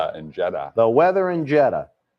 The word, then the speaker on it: Jeddah: jeddah the weather in jetta it almost sounds like we're trying to say jetter here in boston but no that's the name of